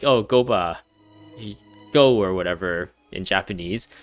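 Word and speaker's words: Guoba: Chinese, but I guess in Japanese it's actually Gopa with a P, and maybe they changed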